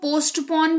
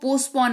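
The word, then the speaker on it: postpone: गई ठीक है अच्छा कुछ लोग उसको पोस्ट अपन भी कहते हैं बट इट्स नोट डेट इसको पोस्टपोन इसका उच्चारण होता है ठीक है रिहर्सल करना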